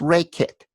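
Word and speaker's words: Rakit: "It's Ray Kit. That's spelled R-A-K-I-T, so you won't confuse it with Rocket or Racket."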